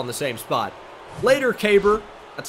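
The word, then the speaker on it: Keibert: see the fastball in the same spot later caber that's how you pronounce it by the way caber Ruiz they're probably K Band right but it it's not kiebert or cabert it's like it rhymes with glabor and that's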